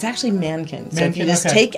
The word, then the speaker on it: Mahnken: chapter of life and the H by the way is silent so if you're looking at the median either we give it a little breathy thank you yes but if it's actually Mankins so if you just